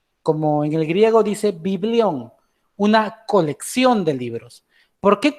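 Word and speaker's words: βιβλίον: para anotar por ejemplo el término biblia viene de la palabra griega que así como así como se pronuncia biblión no así de biblia biblión en la palabra griega biblión y el significado de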